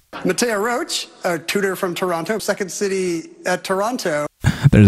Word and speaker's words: Toronto: also i'm really sorry i have to point out ken's mispronunciation in toronto he added an extra t two times he said it uh